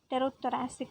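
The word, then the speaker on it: pterothoracic: is supplemented by the Tero thoracic ventilation p is silent and the third abdominal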